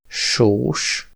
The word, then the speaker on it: sós: La plus inhabituelle, c’est que S se prononce [ʃ], comme dans sós (salé), et le son [s]